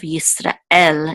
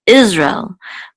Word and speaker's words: Yisrael: And then el, here's the last syllable of Yisrael is what is accented. Yisrael. It's not, in English, we accent the first syllable. We say Israel. But in Hebrew, it's Yisrael. There's also a guttural stop right after Ra and